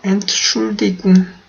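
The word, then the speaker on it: Entschuldigung: 엔트슐디궁 이라고 하실 수도 있고요. 아니면은 요 엔트 부분을 발음을 안 하는 경우도 많아요. 엔트를 아예 없애버리고 그냥 슐디궁 이런 식으로도 말을 많이 걸거든요.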